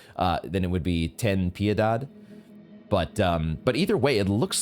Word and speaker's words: Ten Piedad: Does it actually have I think it's supposed to be pronounced, if I were pronouncing it in a Latin or Spanish way, then it would be Ten Piedad.